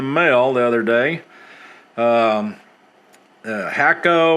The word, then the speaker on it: Hakko: the other day um hakko or hako our friends pronounced uh fr301 um see